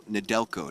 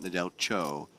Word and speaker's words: Nadelco: It's still Nadelco, not Nadel Cho.